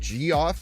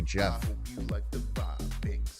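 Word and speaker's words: Geoff: I used to think that uh cuz I never heard like Goff G or G E O FF pronounced.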